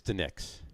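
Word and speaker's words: DiNic's: Now, is it pronounced Dinix or Dinix? It's the Nick's. Even those two N's. No, it's one N. There's two It's N's. D-I, capital N-I-C, the Nick's.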